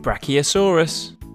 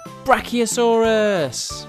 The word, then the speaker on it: Brachiosaurus: let's learn all about Brachiosaurus how do you say that again BR key o s Russ do you know how